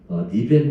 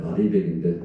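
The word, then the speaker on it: RE100: 우리 대통령 그 서로 토론할 때 아리백이 뭔지 아냐 했더니 한 분이 니백 말하냐 그랬는데, 뭐 발음은 원래 아리백인데, 뭐 앞으로 큰 변화가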